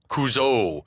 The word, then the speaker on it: Couzo: as coach or mr and then he pronounces it kuzo and it was at this moment that we realized that the decision had been made at some point to accent the final vowel kuzo kuzo at least